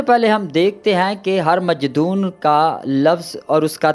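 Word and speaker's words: ہرمجدون: کا مطلب ہے کہ اس لفظ کو مجدون نہیں بلکہ ہر مجدون کہا جانا چاہیے، یعنی اس کا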